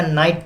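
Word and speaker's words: knight: सकते हैं वही आपका नाइट पे ले लेते हैं नाइट आपका हो जाता है नाइट के लिए डिनर को बताया था की बोलते वक्त के साइलेंट होता है के साइलेंट होता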